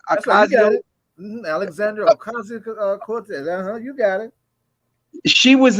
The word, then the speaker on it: Ocasio-Cortez: Alexandra Ocasio-Cortez.